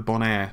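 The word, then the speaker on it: Bonaire: And the closest desktop variant would be, I believe it's pronounced the Bonair. That's B-O-N-A-I-R-E.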